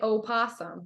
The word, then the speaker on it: opossum: I like to be the one to pronounce it, and people get Even I get. Huffy. yeah, look at me funny when I say opossum, but oh And well.